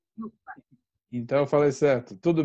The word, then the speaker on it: Juppa: É Yupa ou Jupa? Eu Na sempre falei errado. verdade, escreve com J, mas a pronúncia é UPA.